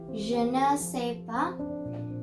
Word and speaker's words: je ne sais pas: here's the same reason why you do not pronounce the S, because it doesn't have an E, and most of it doesn't have an accent mark on it.